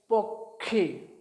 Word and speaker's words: পক্ষী: তাহলে প কয় মূর্ধন্য ষয়ে দীর্ঘইকার, এর উচ্চারণ হবে পক্ষে, পক্ষে। দেখো, এখানে কয়ের বা মূর্ধন্য ষয়ের কোনো উচ্চারণ আসছে না।